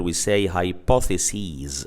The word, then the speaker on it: hypotheses: Instead of being sis, we make it ses, and the pronunciation becomes sees instead of sis. So in the plural we say hypotheses rather than hypothesis.